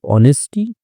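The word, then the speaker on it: honesty: रिया liked अर्जुन्स ऑनेस्टी, रिया जो है वो पसंद करती थी अर्जुन की ऑनेस्टी, ठीक है, एच साइलेंट होता है इसमें, ऑनेस्टी ईमानदारी पसंद करती थी,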